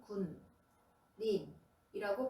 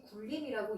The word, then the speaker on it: 군림: 한 글자 글자씩 따로 읽으면 군 님이라고 발음하면 됩니다. 그런데이 두 글자를 합쳐서 군님이라고 쓰고 이것을 발음해 보면 무슨 일이 일어나지요? 아무도 글자가 쓰여진 그대로 발음하지 않습니다. 대신 굴림이라고 있습니다.